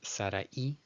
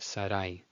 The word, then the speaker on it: Sarai: It's not, in Spanish, it's Sarai as two separate syllables. In Hebrew, it's just Sarai, Sarai.